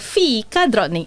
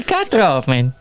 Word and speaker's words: fikadrottning: It's a Swedish word. It's called fikadrottning, and you have to say it in a specific pronunciation. Fikadrottning. Fikadrottning.